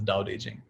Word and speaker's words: Tao Te Ching: books the doubt aging it's written as tao te ching but it's pronounced as doubt aging and the first line of his of the doubt aging the first the very